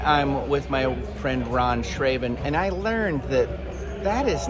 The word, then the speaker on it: Schraven: I'm with my friend Ron Schraven, and I learned that is not how it's pronounced. When I call your phone, how do you say it? What is it really? Schraven. Schraven.